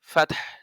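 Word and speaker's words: فتح: লাগবে তার সাথে ফাত এই ফাতের সাথে হা টা সামান্য একটু উচ্চারণ করে নিতে হবে কেমন কেমন ভাগ করে ফাত এভাবে ইজাজা নাসরুল্লাহি ওয়াল ফাত ফাতহ এভাবে যেমন ওয়াল কদর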